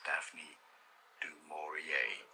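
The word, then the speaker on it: Daphne du Maurier: butcher this last name, Daphne Jamore. How do I I'm going to Google how to pronounce her name because I believe it's French.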